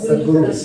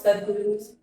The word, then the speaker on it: Sadhguru: ياخذون اسمه هذا زي Sadhguru. Sadhguru. He's an engineer, yogi, and mystic. He's an engineer, yogi, and mystic. My research is titled Critical Discourse Analysis of the Semantic Lexicon of the 3 of Sadhguru's discourses and 3 of Sadhguru's speeches.